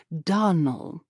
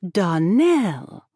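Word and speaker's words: Donnell: Clarice Almira told me that you pronounced our name Donald. Now, Miss Shirley, the correct pronunciation of our name is Darnell, accent on the last syllable.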